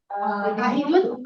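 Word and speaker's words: أحد: और आहिदुन, माहूदुन और आहदुन। आहदुन उर्दू की प्रोनाउंसिएशन में हम अहद कहते हैं, अरबी में आहद जबर को पूरा सीधा पढ़ा जाता है ना, एग्जैक्टली।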